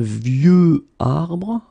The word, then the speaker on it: vieux arbre: Un vieux arbre. Okay, of course you've got this X at the end, but you don't pronounce it. Okay, so it's vieux arbre.